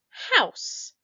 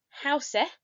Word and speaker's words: house: out the word for house let's stand it out together we have a silent e on the end that silent e is tricky because we don't actually say hau se but we have the